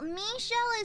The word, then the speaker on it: Michel: Oh, Michelle is the French pronunciation of Michael, like the angel.